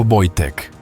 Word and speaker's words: Wojtek: El osesno fue bautizado como Wojtek, pronunciado Wojtek, que en polaco significa el guerrero sonriente, o el que disfruta de la guerra.